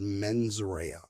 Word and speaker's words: mens rea: And I know my Latin is terrible, but I believe it's pronounced mens rea, which is Latin for malicious intent.